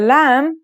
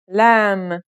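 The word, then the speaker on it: ل: isolated and final forms the lamb sounds like the English L very easy to pronounce right now let's handwrite the isolated form lamb here are the other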